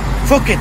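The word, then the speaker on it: Phuket: اليمن السعيد الذي فوكت، النطق الصحيح لها فوكت وليست بوكت. ليش؟ لأن في اللغة الإنجليزية إذا حطيت حرف البي والإتش ورا بعض تنطق فا، كذلك حرف الكي وبعدها إتش ينطق خا مثل خالد.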